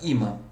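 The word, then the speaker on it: ímã: Esta palavrinha aqui, pessoal, qual que é a sílaba tônica? Imã. A sílaba tônica, aqui neste caso, é o I.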